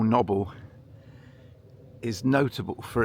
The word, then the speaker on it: Knobble: This is the bit that my father always called noble, as in knobbybly, because it is a bit lumpy.